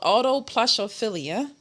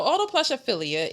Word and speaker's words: autoplushophilia: It's called autoplushophilia. It's spelled The fact no that you AUTOPLUSHOPHILIA. So Autoplushophilia. So auto. No, like audio like Auto like a automobile.